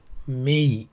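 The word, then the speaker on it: 名: সো তার উচ্চারণ আছে মেই, মিও না, সো তিন ধরনের সাউন্ড আছে।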